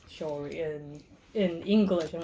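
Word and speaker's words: 鍾離: Now Zhongli, they call them shori. That's how you pronounce it.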